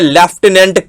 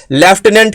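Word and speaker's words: lieutenant: Word है आपके सामने लेफ्टिनेंट, LIUTENANT। इसमें कहीं F, इसमें कहीं PH जैसा कोई वर्ड आता ही नहीं है, कोई लेटर आता ही नहीं है।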